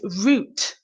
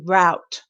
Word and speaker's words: route: root the British version we pronounce it like we would the um the vegetable the root vegetable although it's spelled r